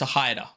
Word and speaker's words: Toehider: make sure okay because I wasn't sure if this group was pronounced toider or to toider or toit but apparently it's aider so or toider basically uh so I know nothing